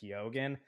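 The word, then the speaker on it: Keoghan: be pronounced differently and he's been on the record saying that he doesn't pronounce it the Irish way he pronounces it kogen uh it's actually those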